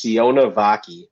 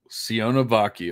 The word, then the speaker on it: Sione Vaki: I had to look up the pronunciation. It's Sione Vaki. Sione Vaki.